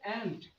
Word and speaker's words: ant: এবার নিব যে টি আছে দা, এবারে যে পিঁপড়ে অ্যান্ট, আবার যেন আন্ট উচ্চারণ না হয়ে যায়, ইয়ার কি করছি খারাপ পারবে না।